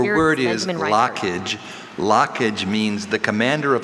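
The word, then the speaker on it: lochage: lockage.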